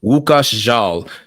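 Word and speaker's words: Łukasz Żal: But the cinematographer responsible for this Chloe Zhao film's beautiful looks is it looks like it's spelled Lukasz's Zhal, but the pronunciation is Łukasz Zhal.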